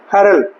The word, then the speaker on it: hurl: Word लगाए last में, क्या लेटर लगाए हुर को, सिर्फ L, और इसका उच्चारण क्या बन जाएगा, हरल, क्या बन गया इसका, हरल, ठीक है।